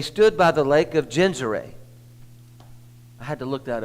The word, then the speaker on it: Gennesaret: God, that he stood by the lake of Gennesaret. I had to look that up to see how to pronounce that.